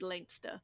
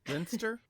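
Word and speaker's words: Leinster: the we dunlange dynasty who ruled langster. Okay linster yeah I so yeah most of the time I will say the pronunciations that are correct against my my best instinct to sound out the spelling.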